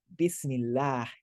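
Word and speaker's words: بسم الله: When we were reading Bismillah, I was pronouncing the la vowel as a an open sound. Bismillah, Bismillah. That's because the vowel before it was a e.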